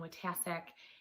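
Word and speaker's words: Wojtaszek: we're ready good evening my name is watasek and i am your niagara county district attorney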